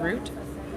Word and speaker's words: route: doesn't have uh or route if you say it if you're usually in the United States unless you guys say it like route instead of root. We pronounce it like a vegetable here.